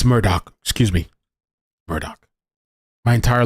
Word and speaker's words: Murdaugh: like a better alternative by the way it's Murdoch how how where the hell am I seeing that this is supposed to be pronounced pronounced as Murdoch I'd like to know